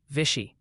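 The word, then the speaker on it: Vichy: Someone insists vishy, Missouri rhymes with fishy.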